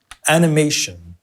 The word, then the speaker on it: animation: has four syllables and where does the stress fall stress false first and third a May animation a and May first and third animation like this we talked